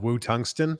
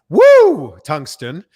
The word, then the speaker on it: Woo Tungsten: a fishing company called wu tungsten sorry i mispronounced it it's woo tungsten as the correct way to say it so between that